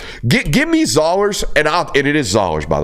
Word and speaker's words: Zoller: It's Zollers like dollars, not Zollers.